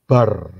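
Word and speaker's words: בר: Beth dan Resh itu kalau dijadiin satu, itu bacanya bar.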